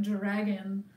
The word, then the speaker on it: Durakin: Durakin, and apparently it's pronounced like dragon. Dragon?